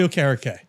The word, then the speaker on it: Okereke: Giant starting linebacker, captain, entrepreneur, Bobby Okereke. What's up, guys? I pronounced the last name correct, right?